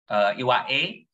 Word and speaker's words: Iwake: Iwake, Iwae, the pronunciation, but in English means I wake or Indonesian wake.